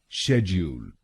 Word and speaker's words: schedule: British pronunciation में इसको बोलेंगे शेड्यूल। शेड्यूल। इस शब्द में दो शब्दांश हैं। पहला शब्दांश है SCHED और दूसरा शब्दांश है ULE। पहले शब्दांश को यानी SCHED हम बोलेंगे शेज, शेज, और दूसरे शब्दांश को